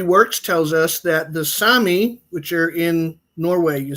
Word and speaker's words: Sami: It's pronounced Sami. Yeah, Sami, I'm sorry.